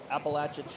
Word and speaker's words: Appalachia: Check it out, the Appalachia Trail. Not Appalachian Trail, I'm told. Appalachia Trail. I think I mispronounce it every time.